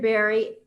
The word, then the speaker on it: Barrie: Barrie, am I correct in pronouncing your name like fruit? Like a fruit.